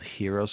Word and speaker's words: Heron: way and it's called Hero's formula now they spell it heron but it's hero so it's Hero's formula some people call it heren formula Hero's formula equals